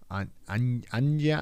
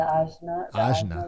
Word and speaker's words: Ajna: The Anja? oh, the Ajna light.